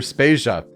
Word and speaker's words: Spezia: And I'm Spezia. We're brought to you by Anonymous Dinosaur and Rhymes with Asia.